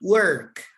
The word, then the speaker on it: work: mismo yo ese verbo aunque se escribe con o se pronuncia con e work yo trabajo verdad You